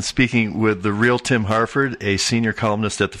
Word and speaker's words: Harford: thing to mention is half it is is spelled harf Ord not Hartford and not a town in Connecticut or Harvard yeah I wish I